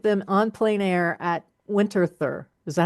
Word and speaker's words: Winterthur: I've seen her paint them on plein air at Winterthur. Is that how you pronounce that?